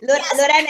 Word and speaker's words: Lorena: get started hi Lorena is that the best way to pronounce your name yes is a perfect way I mean your pronunciation is very good so oh Lorena is perfect Lorena and where in Italy are